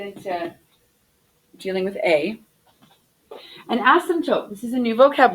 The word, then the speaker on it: asymptote: you to practice it so this p is like odd so the word is ask some tote and so I said the P super quickly and I didn't really pronounce it that that strongly asymptote asymptote asymptote can you say that word asymptote awesome tote asymptote and the p is so quick awesome Pizza okay not